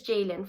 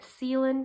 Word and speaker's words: Ceylin: My name is Jaylin, for those of you who don't know me, and it's spelled Ceylin. And of course you could assume this has caused a little bit of confusion growing up in America. Whenever I meet new people or on the first day of school, the teachers always mispronounce my name. I get Ceylin, sometimes even Sealing, which is a little strange of course.